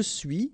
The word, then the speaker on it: suis: Okay, so je suis, final S not pronounced, tu es, okay, so